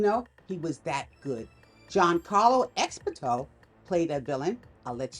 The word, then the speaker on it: Giancarlo Esposito: Giancarlo Esposito played a villain. I'll let you see who it is. Yeah, that's how you pronounce his name.